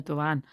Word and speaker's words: Dewan: Jenna Dewan, it was Jenna Dewan Tatum, but Jenna Dewan, that's how you say it.